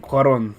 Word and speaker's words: Cuarón: That's actually how you pronounce his name. Cuarón.